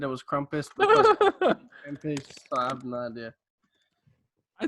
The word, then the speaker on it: Krampus: children at christmas time say krumpus if you pronounce it right yes but i'm going to give it to you oh i i i used to say krampus and then that's isn't